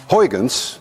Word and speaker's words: Huygens: suggested by my countrymen Huygens which actually should be pronounced none of you can say hajens and if any one of you can say Hogans there is a 99.9 chance that you Dutch even Peter Peter you